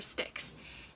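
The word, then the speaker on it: Styx: bathing in the river sticks and stixx is spelled s-t-y-x by the way not like sticks as in twig sticks but that's how apparently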